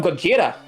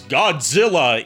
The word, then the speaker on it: Gojira: They call him Gojira. No, but the TV news anchor mispronounces that as Godzilla in his report.